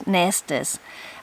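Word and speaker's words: nestes: The next one is, again, just a pronunciation, but it's nest, noun, variant plural form of 2 syllables, Nestus.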